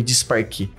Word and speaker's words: Disparquet: como empresário a a a organização do nome de sparque que é a pronúncia correta né até que um dia cai